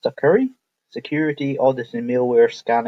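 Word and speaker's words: Sucuri: I installed as well it's pronounced sucker security audit and mailware scan heard and I installed both of them and it was working fine.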